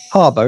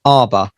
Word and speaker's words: Harbour: actor um harbour harbour harbor isn't it it's it's harbor not arbor it's just david i